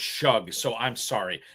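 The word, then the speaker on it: Shough: It's pronounced shug. So, I'm sorry. Tyler Shug, not shook or whatever I was saying.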